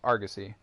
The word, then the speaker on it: Argosy: a title instead of something else, but it's pronounced Argosy.